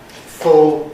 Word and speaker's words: full: Full and dull. In the north of England in popular speech, these rhyme full and dull.